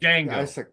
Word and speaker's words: Django: Unchained Django dang well I can't say it Jango Jango Jango and Silent he says is silent it's a [ __